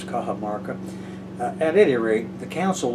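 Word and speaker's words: Cajamarca: back over that again it's spelled c-a-j-a-m-a-r-c-a our English letters kaha Marca at any rate the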